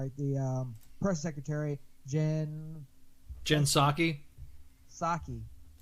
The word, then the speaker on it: Psaki: Psaki. How do you get Psaki out of P? Just that's the way she's pronounced it.